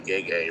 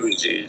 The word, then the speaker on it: Gege: the same interview by Gege, right, when they actually reference how the ability works, they reference the inconsistency. Hold up. First off, I don't think it's pronounced Gege. I think it's G.